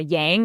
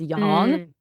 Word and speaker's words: yang: Like I also will hear people say, like, for example, yin, and everyone says a yang, it's yang. So just minor things like that.